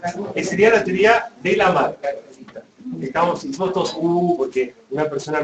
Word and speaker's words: Lamarck: ¿Cómo se pronuncia? Lamarck.